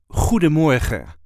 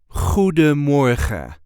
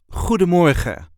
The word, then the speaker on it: Goedemorgen: This is the way we say Goedemorgen. Goedemorgen. You can put the emphasis on the first or third syllable. So, Goedemorgen or Goedemorgen. Goedemorgen.